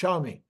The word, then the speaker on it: Xiaomi: a m i and I think it's pronounced I think I looked this up it's pronounced xiaomi um their CEO Le